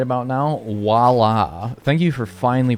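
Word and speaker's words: voilà: Walla. Thank you for finally pronouncing or spelling that right.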